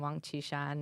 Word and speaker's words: Wang Qishan: Yeah, I mean, I correct his mispronunciation of a Communist Party leader named Wang Qishan, and who he calls Wang Qishan.